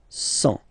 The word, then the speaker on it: cent: Remember, final T not pronounced. 100.